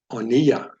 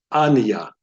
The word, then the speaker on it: oniya: So this word would be pronounced oniya, oniya, not aniya.